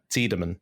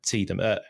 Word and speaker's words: Tiedemann: Yeah, a very good example of this is Tiedemann, which I think is the German pronunciation. And then you have Tiedemann.